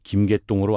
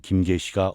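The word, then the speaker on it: 김개시: 흔히 김계똥으로 알려져 있지만 정황상 김계시가 올바른 발음이었던 것 같아요.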